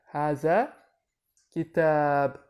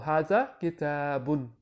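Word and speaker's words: هذا كتاب: Or haza kitabun. Haza kitabun. Haza kitab. Or haza kitabun. Because when you're speaking Arabic, you don't need to pronounce the ending vowels. So you could just say haza kitab.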